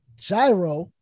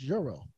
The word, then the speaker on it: gyro: i didn't know that gyro was officially pronounced euro but of course you